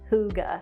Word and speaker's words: hygge: world for the last couple of years it's pronounced hygge the scandinavian word for cozy i guess and this is the hygge yarn from red heart first impression is that